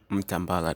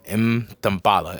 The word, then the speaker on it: Mtambala: My name is Mtambala. Mtambala, that's my last name. Yeah, Mtambala. I said it right? Yep, that's perfect.